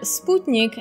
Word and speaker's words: Sputnik: just being difficult and resisting the americanized pronunciation of sputnik it has a specific meaning in the russian language it means companion as